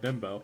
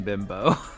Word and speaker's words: Bimbo: There's a brand of bread called Bimbo. Oh. It's not how it's pronounced, but I think it's a Spanish brand.